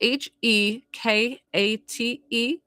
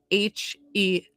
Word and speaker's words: Hecate: So it's Hekate, or it's Hecate. It's either way. You could call her Hecate, you could call her Hecate. I say Hecate.